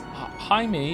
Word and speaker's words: Jaime: Jaime is pronounced in like the hide in Hideyoshi, but with an M.